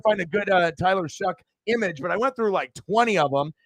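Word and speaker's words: Shough: you know s-h-o-u-g-h but obviously it's pronounced shuck right and then now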